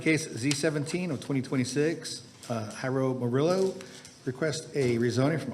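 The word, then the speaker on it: Jairo: My name is Hyro Moro. First name is spelled J A I R O.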